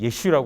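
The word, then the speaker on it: ישו: 놨습니다 예수님의 이름을 예수라고 원래 예수님의 이름은 예슈 라고 하는 이름입니다 그러나 랍비들은 만약에 기독교가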